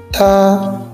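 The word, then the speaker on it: 她: ou elle au pluriel tu vois en chinois ta est utilisé pour il et ta pour elle mais à l'oral il se prononce exactement pareil cela se change seulement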